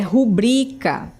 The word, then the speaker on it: rubrica: O correto é rubrica. O acento tônico é no bri e não no ru, né?